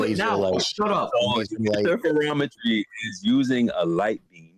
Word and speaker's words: interferometry: Interferometry.